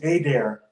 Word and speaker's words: Adair: does he you know is his name a there is that how he pronounces it yes it's a dare hey there now how